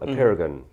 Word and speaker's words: Apeirogon: W: Let's start with the title of your novel, Apeirogon. I hope I pronounced that correctly.